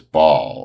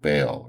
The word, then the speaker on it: Baal: God of this town is Baal, or Baal or Baal, however you want to pronounce it.